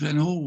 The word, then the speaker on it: Van Gogh: through suffering you know van gogh should be transformed pronounced that way vincent van gaal was one of these